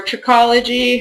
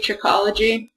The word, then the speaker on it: trichology: Trichology, or trichology, however you want to pronounce it, is the technical name for the study of hair. I'd say trichology. Some people say trichology.